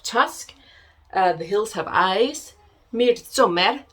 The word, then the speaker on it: Midsommar: We have Tusk, The Hills Have Eyes, Midsommar, I think it's pronounced.